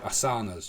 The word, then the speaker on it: asana: also healthy so obviously there's the asanas that we do or asanas you it depends where the north or south of India you come from how you pronounce it but there's the yoga